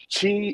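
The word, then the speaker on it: qi: is called chi gong chi is spelled q i and it means energy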